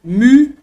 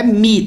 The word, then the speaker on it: mu: se escreve em grego, mu. Não é mi, tá, gente? É um som. Também é muito difícil reproduzir isso aqui numa frase, assim, fazendo uma leitura rápida. Mas devagarzinho nós temos mu, mu, mu.